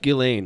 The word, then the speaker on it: Ghislaine: It's pronounced Ghislaine, right? Yeah. But you say Jizlane.